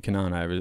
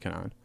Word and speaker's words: Kenan: can even remember life, and then Kenan obviously being my name pronounced in Turkish, spelt the same name or same way as Kenan. So I get it, like, you know, people that speak English that are, you know, not Right. Turkish. Really, it's not even being Turkish. Really, it's being speaking any language in the world. Like Spanish, it's pronounced Kenan, Right.